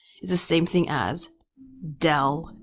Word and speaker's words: del: the same thing as del F okay this symbol here is that is pronounced del Del F is a